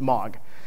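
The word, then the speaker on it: MAAWG: that's pretty much it nobody can really pronounce it it's called it's mog and it's the message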